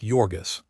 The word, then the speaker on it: Jurgis: Pronounced Jurgis, Ona was blue -eyed and fair, while Jurgis